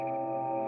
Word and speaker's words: Ejnar Hertzsprung: The variable nature of Polaris was first discovered back in 1911 by Danish astronomer Ejnar Hertzsprung (pronounced eye-nar hertzsproong) Observations of Polaris since then show that the star has had a consistent pulse period of four days.